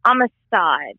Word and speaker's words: Amistad: So how do you pronounce the name? Amistad or Amistad? Amistad.